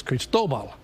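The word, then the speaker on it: Cristóbal: it but this one's creased Obama officially the accent on the second syllable if you were wondering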